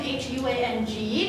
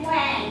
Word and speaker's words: Huang: Well, you're pretty good, actually, because most of the students used to say Wang. That's the okay. Actually, it's Huang.